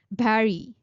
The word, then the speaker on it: berry: The next word is berry. Barry. There's no sound of u in it. There's a sound of e in it.